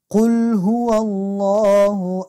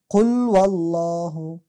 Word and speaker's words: قل هو الله: ما متوجه شدیم کسایی که تجوید یاد ندارن اکثرا میگن قل والله، قل وال یعنی هی کاملا حذف میشه، واو بالا میزنن یعنی قل وال میگن. ای اشتباه، یک حرف کم میکنیم